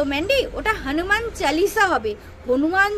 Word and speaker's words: চালিসা: সাতি আর হনুমান চালিসা তো ম্যান্ডি ওটা হনুমান চালিসা হবে হনুমান চল্লিসা এরকমই বলেছিল না চালিসা ঠিক আছে উচ্চারণটা এরকম হবে যাই হোক আমাদের উচ্চারণের মহারানী